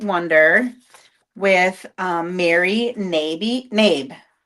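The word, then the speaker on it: Knabe: with um Mary navy nab k n a be e. For the longest time I thought it was canab canabi but it's the k is silent.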